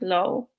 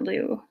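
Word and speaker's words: Liu: something like that so the last notes pronounced like lo not Lou anyway the dark forest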